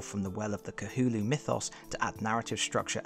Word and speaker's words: Cthulhu: The true way to say that being's name is, as closely as I can manage it anyway, Cthulhu. That's really hard to say, especially repeatedly through a video like this one, so I will be using the pronunciation I more commonly fall back on, Cthulhu.